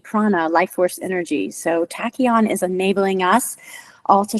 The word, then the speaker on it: tachyon: So tachion is spelled t a c h y o n. And that Greek Latin um origin word that tacky is like part of tachometer on your car.